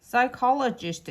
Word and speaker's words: psychologist: Pychologist 이거 지금이 피가 써 있으나 발음이 안 돼. 그래서 컬러지가 아니라 그냥 이렇게 해야 돼요.